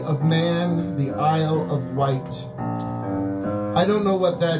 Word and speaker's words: Wight: man the Isle of Wight I don't know what that is the Isle of Wight although i think it's Isle of Wight I think it's spelled white instead of white but I can't say